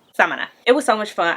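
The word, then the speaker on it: Samaná: Hometown which is Samana I kept saying it wrong I think it's Samana Samana it was so much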